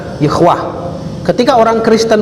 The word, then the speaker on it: Yahweh: Ini dibaca Yehwah. Yehwah itu nama Allah menurut Yahudi. Jadi 4 huruf suci, YHWH. Kalau kita 4 huruf suci juga, alif lam lam ha, dibaca Allah. Ini YHWH dibaca Yehwah.